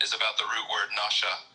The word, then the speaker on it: Nasha: Nasha, pronounced Nasha, a primitive root, to lead astray, an example, mentally, to delude or morally, to seduce, beguile, deceive, X greatly, X utterly.